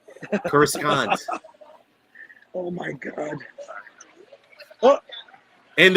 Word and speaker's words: Coruscant: Hey, Alan, how do you pronounce Coruscant? Coruscant. Coruscant.